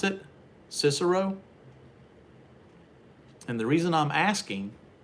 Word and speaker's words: Cicero: is that cicero illinois is that how you pronounce it cicero and the reason i'm asking is because my